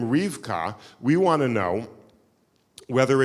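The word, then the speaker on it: רבקה: So it seems that Rivka is actually not the original pronunciation. It seems that the original pronunciation of the word was Rebecca, that it was 3 syllables, not 2 syllables.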